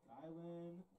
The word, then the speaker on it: Kylan: Kylan Bullock. I mean, I'll say it. I'll just say it. After the first bit. Do that Kai or Ann? Kai slash Ann. Now batting number 8, Kylan Bullock.